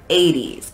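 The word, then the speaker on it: eighties: We tend to make a D sound if something's in the middle of a word. So it's 80s, A, the 80s, like a D sound. even though it's spelled with a T.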